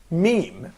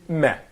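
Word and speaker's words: ميم: So, Okay, so when we pronounce meme in Arabic, it's close in pronunciation to M in English. It's the same meh.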